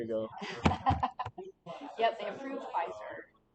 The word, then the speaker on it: Pfizer: For not Yep, long it starts with a ago, P, but it's Pfizer. Yeah. Yeah, I used to something about like do like a Pfizer game. There you go. Yep, they approved Pfizer.